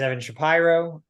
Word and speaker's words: Evan Shapiro: know you yet uh my name is Evan Shapiro pronounced correctly I'm from Philadelphia go